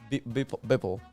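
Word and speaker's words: Beeple: Bipple.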